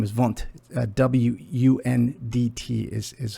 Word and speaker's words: Wundt: he was a german physiologist uh physiologist um his last name is vant w-u-n-d-t is how it's spelt he's a german physiologist philosopher and professor